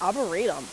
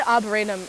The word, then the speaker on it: arboretum: i get nervous like if i have american people listen to this they'll be like oh boredom it's arboretum i think they say arboretum in another podcast which i'll give